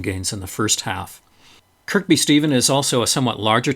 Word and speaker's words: Kirkby Stephen: day seven Orton to Kirkby Stephen or Kirby Stephen as people seem to pronounce it and there was a